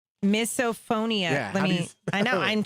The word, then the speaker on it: misophonia: Like miso soup.